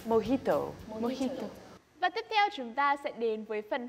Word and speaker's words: mojito: for he told so the J the yeah is pronounced as ha right mojito but does it mean